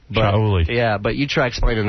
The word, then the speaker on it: Shuli: It's spelled with an A, so it's pronounced Shauli. Shauli.